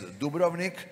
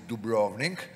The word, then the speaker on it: Dubrovnik: on the upper part is the most famous Dubrovnik everybody pronounces it Dubrovnik which we are very unhappy but anyway let